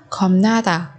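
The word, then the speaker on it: 겁나다: Ở đây chúng ta có biến âm khọp đọc thành khom, khom na ta, bởi vì phía sau của bài chim phi ập là phụ âm ni ẩn.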